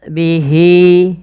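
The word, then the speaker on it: بِهِ: Wa ahat bihi ya. Kemudian panjangkan lafal hi dua harakat karena ia mad silah qasirah ditandai dengan ha damir.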